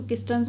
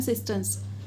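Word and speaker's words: cisterns: कोई इसको किस्टर्न्स बोलता है, कोई इसको सिस्टर्न्स बोलता है। इसकी सही प्रोनाउंसिएशन है सिस्टर्न्स।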